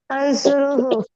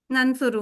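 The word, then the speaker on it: نَنْصُرُ: उनसुर हु, इसको pronounce ठीक से करना बेटा। अंसुरू दूसरा, अंसुरु। नंसुरू ननसुरु हु, ठीक है माशाल्लाह।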